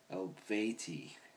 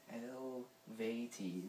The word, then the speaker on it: Eluveitie: Album review from the band Eluveitie. Yeah. And I was told that's how you pronounce this. How do you pronounce that? Eluveitie. That's what Wikipedia says.